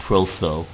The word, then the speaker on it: Prothro: I think that's pronounced Protho.